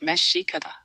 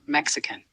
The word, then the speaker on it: Mexica: The word you were asking for is mika pronounced meshika, not Mexican.